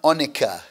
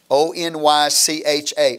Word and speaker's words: onycha: If you look at verse 34 again, you will see a part of the spices, the part of the incense, a term onycha, O-N-Y-C-H-A, onycha.